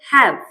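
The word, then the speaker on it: have: मात्रा कैसे लगी है हैव हैव लास्ट वाला नहीं पढ़ते साइलेंट रहता है हैव लाइफ लाइफ यह थोड़ा सा अपवाद है।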